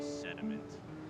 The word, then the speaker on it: Seth D. Ment: My name's Seth D. Ment, I'll have you know, but you kids always mess about with your pronunciations. You just call me Sediment.